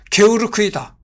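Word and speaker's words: Georg: 하냐고 따지는 경우가 있다 일단 게오르그는 독일식 발음이 아니다 독일식 발음 표기는 게오르크이다 참고로 설 뒤는 1953년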